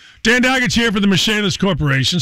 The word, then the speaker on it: Michalis: Call Michalis today. The Michalis Corporation is spelled like Michael is.